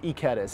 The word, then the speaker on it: Ikedas: My last name is pronounced Ikedas. Ikedas, not Ikedas, but Ikedas.